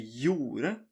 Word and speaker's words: gjorde: So you don't say the G, you say gjorde, gjerne, geit.